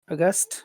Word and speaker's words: aghast: Aghast? Aghast. You have to put the a there. That's important. That's part of the word.